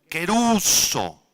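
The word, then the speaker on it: κηρύσσω: verbo predicar es la palabra griega kuso con k doble s y acento en la u quer uso así como suena quer uso significa proclamar o anunciar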